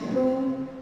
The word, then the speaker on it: who: W is not pronounced in these famous three pronouns, which is who, whose, and whom.